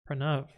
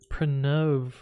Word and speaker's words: Pranav: The second A is shorter. Oh. Pranav.